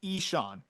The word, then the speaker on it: Ixan: And then Eshawn Henderson, IXAN, pronounced Eshawn, left-handed pitcher in the Cardinals organization, 30 innings pitched this year, a 2.40 ERA, a 1.91 FIP.